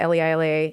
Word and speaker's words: Leila: That would have helped my life if it had been spelled Layla, because people would know how to pronounce my name.